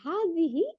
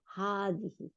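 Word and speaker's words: هذه: দিব হাজা তাই না আর হাদিহি এর মধ্যেও তাই লেখার মধ্যে নাই হ্যাঁ কিন্তু অরিজিনালি একচুয়ালি থাকার কথা ছিল তাহলে হাদিহি তাই না এই হলো আমাদের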